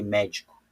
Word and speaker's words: médico: Olha só onde está o acento da palavra médico. Vou separar aqui, ó. Médico. Veja que o acento da palavra médico, tá? Não é a última nem a penúltima, é a antepenúltima aqui, ó.